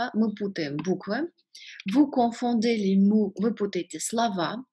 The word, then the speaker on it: confondez: Обращаю ваше внимание, как и в предыдущих глаголах, здесь во множественном числе «d» произносится, а в единственном нет. То есть «confondons», «confondez», «confondent». И voilà.